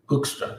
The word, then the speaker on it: Hoekstra: Foreigners always have some trouble with the G, but also the U, the Hoekstra.